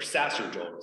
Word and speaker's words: sacerdotal: So this is called sacramental, but when the person who blesses the bread and the cup, that's sacerdotal, or sacerdotal, some pronounce it.